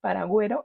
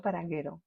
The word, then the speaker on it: paragüero: palabra que me encanta paragüero y no para guero h Bueno espero que